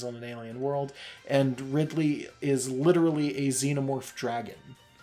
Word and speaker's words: Ridley: I don't know why I pronounced ride Lee once in the car and you like that you did I you don't hear these things said out loud that much cuz it's a video game care but I guess no it's not it's Ridley okay it just it